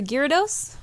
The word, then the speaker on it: Gyarados: Her Gyarados, is that how you say it?